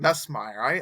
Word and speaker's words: Nussmeier: Yeah, I still go with Nussmeier first overall if it was Nussmeier. Me. No, I keep saying his name wrong. Nussmeier.